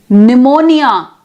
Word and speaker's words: pneumonia: we have kn then pneumonia pneumatic we have pn so orthographically we write p n k n g n but we pronounce as single n that is another sound